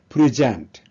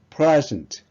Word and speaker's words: present: 발표하다, 제출하다 이런 의미로 동사로 쓰일 때는 present, 이렇게 발음을 하고요. 현재, 선물 이런 뜻일 때는요. 앞에 강세를 두어서 present 이렇게 발음을 합니다.